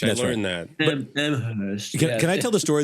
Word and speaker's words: Amherst: Well, there's the pretentious way. The college doesn't pronounce the H. I learned that. Amherst.